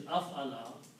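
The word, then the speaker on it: أَفْعَلَ: Again, if we go into the group number 4, which is Af'ala, And afala is pronounced as af-ala. The sound of afala is af, so you have to combine alif and fa, af-ala.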